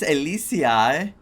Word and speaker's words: Elysiae: ID's Elysiae? What? ID's? No. Elysiae. Finan? No. Fenon. I'm Finan, from ID's Elysiae. Finon, you pronounce it in Greek Phenon.